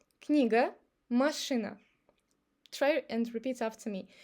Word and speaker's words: машина: But when A is not under the stress, when it's unstressed, we pronounce it like A. So observe this with these two words. Книга, машина. I don't say книга или машина. I make it like A. Книга, машина.